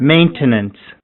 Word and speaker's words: maintenance: Maintenance. is maintenance. Maintenance. So the in here the stress is on the first syllable which is main.